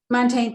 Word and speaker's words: Montaigne: michalde michelle day i don't know how to pronounce okay montaigne thank you put it there is as much